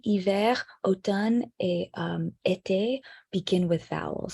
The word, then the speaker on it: automne: Automne is also a little bizarre because the M is there, but it's not pronounced.